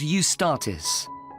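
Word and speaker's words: Eustatis: there's a performance by a ballet company called UST statis sorry the name is spelled e u s t a t i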